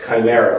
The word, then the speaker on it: chimera: I start with this by implying that the notion of America as chimera or chimera, depending on pronunciation, is something that I've been particularly compelled with.